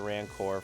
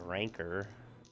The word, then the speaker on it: Rancor: So my instinct was like, oh, it's a rancor like in like in uh in Star Wars, but it's actually pronounced a ranker.